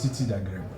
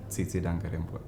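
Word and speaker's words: Tsitsi Dangarembga: Then there is Titi Dagrebo, right? Yes. How do you pronounce her name? Tsitsi Dangarembwe.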